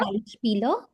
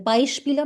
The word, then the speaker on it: Beispiel: And it's not Beispieler, it's just Beispiel. Okay? So zum Beispiel. Zum Okay, ma'am. Beispiel. Yeah. I, zum Beispiel Igel.